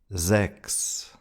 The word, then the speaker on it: Sechs: The first one is when CH is followed by an S, CHS, then it's pronounced like an X. Dachs. Fuchs. Sechs. Wechseln.